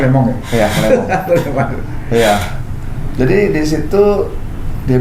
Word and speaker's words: Le Mans: Bacanya Le Mans ya? Iya, Le Mans.